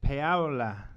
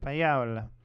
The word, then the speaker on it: Paola: Paula Harris, Paola, that's how you say it in Italian, Paola.